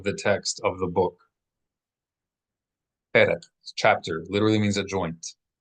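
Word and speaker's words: פרק: Perek. Perek. P-E-R-E-Q. Perek. Accent symbol over the first E.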